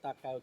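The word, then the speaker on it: Ta Keo: Okay, now now we are in front of the Takao temple. Today people call the temple here Ta Kao. It's spelled T-A Ta, that means old man. Kao, the name of the old man. K-E-O, Kao, right.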